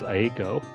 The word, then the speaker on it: Eiko: Alright, so Eiko, I think that's how you pronounce it. Unless you pronounce it the Japanese way, which is Aiko.